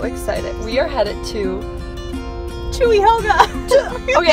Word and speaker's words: Cuyahoga: are headed, so excited, we are headed to Cuyahoga. Okay, I always say Cuyahoga. It's not that. It's not either. Like, wait. How do you say it? It's called Cuyahoga.